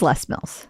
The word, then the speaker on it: Les Mills: Is this Les Mills or Les Mills? Les Mills. I don't know. I was going to say Les Mills. And then I was like, maybe I'm saying it right. Who knows? It's Les Mills.